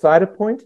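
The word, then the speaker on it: Cytopoint: you win a spelling B but could you spell that yeah sure so it's cyto Point Cy t o p o i n t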